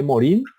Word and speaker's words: Morin: Se escribe Morin y se lee Morin.